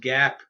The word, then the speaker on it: GAAP: GAAP, pronounced GAAP, stands for Generally Accepted Accounting Principles.